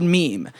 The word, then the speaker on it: meme: important as the word meme. In his own words, it should be pronounced to rhyme with cream.